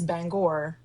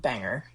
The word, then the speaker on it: Bangor: And it is Bangor, not Bangor, as everybody tends to pronounce it.